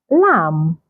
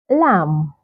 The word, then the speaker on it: lamb: have Lim Li W so you can see that this words have the letter M come before the letter B so in most cases when you have words like this that have the letter M come before the letter B the B is usually silent in most cases maybe